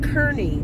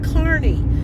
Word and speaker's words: Kearney: think i was saying kearney nebraska and it's correctly pronounced carney so thank you guys